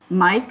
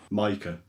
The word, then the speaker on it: Maike: pronounce your name i wasn't sure how you pronounce it mike micah okay we'll just use your first name because